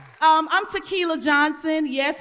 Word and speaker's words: Tequila: that's right um i'm tequila johnson yes it's pronounced like the liquor but a little bit